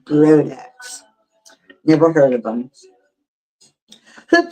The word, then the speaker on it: Brodax: Al Brodex. It's spelled B R O D A S. last name Brodax.